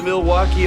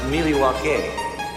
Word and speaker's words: Milwaukee: Do you come to Milwaukee often? Actually, it's pronounced Milwaukee, which is Algonquin for the good land.